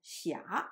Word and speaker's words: 霞: 霞 is normally pronounced as 斜 in modern Mandarin.But it is pronounced as 霞 in Beijing opera.